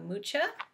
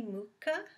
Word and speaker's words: Mucha: Now the Tarot Mucha, which is for the artist Alphonse Mucha, it might be Mucha, but I think I usually hear Mucha, so I think that's how it's pronounced.